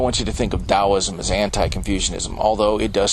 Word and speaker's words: Taoism: That's because the T in Taoism is pronounced like a D. And the most notable figure associated with Taoism is Lao Tzu, or Lao Tzu, which means old master.